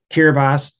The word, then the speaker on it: Kiribati: seas are already causing island countries to disappear kiribati yeah that's how you pronounce that kiribati consists of 33 islands all